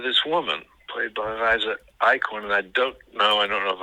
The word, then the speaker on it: Eichhorn: But Liza Eklund, sorry. It's Eichhorn.